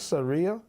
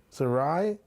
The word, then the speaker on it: Sarai: Producer, how do you pronounce this? Seria. S A R A. Seria. Sarai.